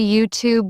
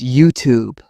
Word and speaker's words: YouTube: I've heard people say YouTube with stress on the tube. It's YouTube.